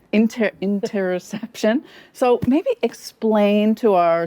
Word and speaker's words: interoception: pleasure, play, presence, and interoception.